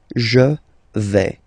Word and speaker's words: je vais: Okay, first person here, je vais. Remember, final S not pronounced.